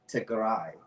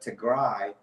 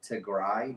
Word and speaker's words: Tigray: So for those of you who are not sure the pronunciation, it's Tigray, as we've been saying.